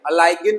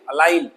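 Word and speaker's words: align: तो सबसे पहले अलाइन, तो यहाँ देखेंगे जी साइलेंट है, अलाइगिन नहीं है, अलाइन।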